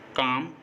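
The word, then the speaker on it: calm: एम से पहले काम, बाम, पाम, आमंड, इन सभी वर्ड्स में एम से पहले एल आया है और एम से पहले एल हमेशा साइलेंट होता है।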